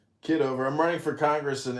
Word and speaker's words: Kitover: here the the other John John is it kiddover or how do you pronounce kiddover I'm running for Congress in Illinois 16.